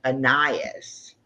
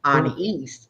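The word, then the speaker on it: Anaïs: And we were thinking it was Annias. Okay. And it was an east because it's French. And if you do the French pronunciation, it's an east.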